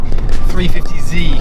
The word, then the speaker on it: 350Z: to my 350Z, or should I start saying 350Z because it rhymes with Adam C.